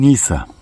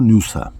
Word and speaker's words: Nysa: Gelelim Nisa. Nisa ya da Nusa. Nusa diye de daha çok okunur.